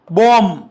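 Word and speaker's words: bomb: okay plum plumb क्रम बॉम महजे तुमही notice केल असेल की या सर्वांमध्ये जो वर्ड आहे बी तो सायलेंट आहे आणखी काही वड आहे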